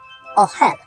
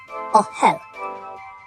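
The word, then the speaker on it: אהל: final word is the Hebrew word for tent ohel ohel that is spelled Olive hey lamid all right folks we're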